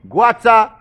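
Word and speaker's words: Goïta: Also, don't forget say Mali, Assimi, Guata, that's how they pronounce the last name.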